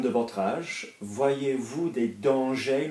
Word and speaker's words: dangers: Voyez-vous des dangers, not danger, we don't pronounce the R, do we? There's no E.